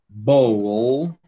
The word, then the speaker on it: bowl: Você tem que pronunciar o L, ok? Do, dol, dol. Roll, roll. Bow, bowl.